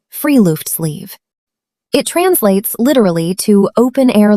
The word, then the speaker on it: friluftsliv: It is called friluftsliv, pronounced free-loofts-leave.